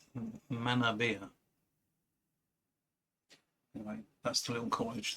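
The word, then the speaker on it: Manorbier: This was on holiday in Manabia. Apparently that's how you're supposed to pronounce. I thought it was Manorbia, or Manorbia, before I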